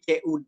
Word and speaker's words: could: modal auxilary-nya yaitu ini bacanya bukan C l-nya enggak perlu dibaca ya langsung o-nya juga enggak perlu jadi cud aja could ya could plus verb